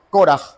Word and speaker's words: Korah: Korah, realmente sería la fonética, Korah, como acento en la O, Korah, comparte raíz con la palabra Kená.